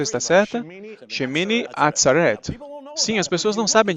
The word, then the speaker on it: Shemini Atzeret: é um dia misterioso chamado chimene e a pronúncia está certa shemini atzeret sim as pessoas não sabem disso mas se